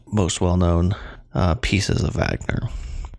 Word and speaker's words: Wagner: well-known uh pieces of Wagner it's also spelled with a W but the way the Germans do it it sounded out with a uh like a V different times that this